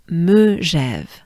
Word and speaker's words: Megève: L'altiport, l'altiport de, again, de, and we'll take Megève, Megève, Megève, Ève, Megève.